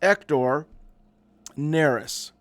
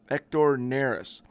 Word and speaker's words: Hector Neris: The Bigs his nickname is Happy Hector it's pronounced ector nerys ector nerys Cub signing to a one-year $9 million contract